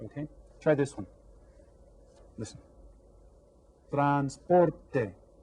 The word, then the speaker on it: transporte: Transporte. How many syllables? 3 syllables. Which one is stressed? Transporte. Can you hear that? Transporte. The second one, transporte.